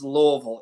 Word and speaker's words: Louisville: well first of all it's Louisville if you could try to get it down to one syllable you're you're you're pronouncing yeah so just L like and then then you're getting close to to getting to getting it right but I I thank